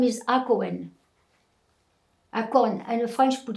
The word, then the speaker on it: Hacohen: So, but Mary Hakoun, H-A-K-O-U-N. The French, when they get to Algeria, they wrote the names how they pronounce it, but her real name is Hakoun.